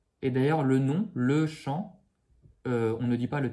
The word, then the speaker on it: chantons: Mais attention, on ne dit pas le N avec un son, le son ne. Okay, le N sert à faire le son on avec le O. Mais je considère qu'il se prononce dans le sens où s'il n'y avait pas de N, on dirait chanteau. Ici, on a chanton.